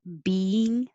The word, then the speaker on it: being: This is almost 2 syllables, but kind of blended together. But if you don't make it a little pause in the middle, being, being, being, it will sound like a single syllable, and it could sound like number 13, being.